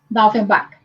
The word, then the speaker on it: Daufenbach: Francisco de Assis, querida, permita, eu pronuncio o seu nome completo, Daufenbach, está certo? Está certo, Daufenbach.